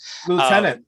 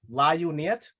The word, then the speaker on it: lieutenant: Lieutenant, not spelled anywhere close to how it's read. My God, if I would have read that first, it would have been La Uniet.